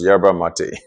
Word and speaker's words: yerba mate: m a t e jerba mate. In English, it is pronounced yerba mate, but I think in Spanish they call it yerba mate.